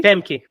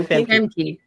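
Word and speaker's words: Famke: Emke Jansen. Yeah. I don't know how to pronounce her first name. Emke? Yeah. Emke? Femke. Yeah. Femke.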